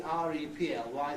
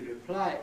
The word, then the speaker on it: reply: It's no good if you see R-E-P-L-Y thinking that it will be reply as a verb, but reply as a noun, because I've never heard anybody use a noun stressed reply.